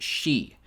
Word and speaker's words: Xi: Now, Xi in Chinese is pronounced Xi.